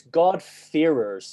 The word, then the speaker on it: God-fearers: Yeah, so it's God-fearers. So F-E-A-R-E-R-S. That's basically my accent being from Northern Ireland is the problem there, really.